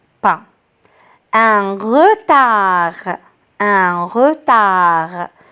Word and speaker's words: retard: pas un retard un retard je n'entends pas d alors des miettes ailleurs